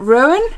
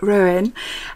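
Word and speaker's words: Róen: daughter then we've got ruin is how you say it ruin and this is an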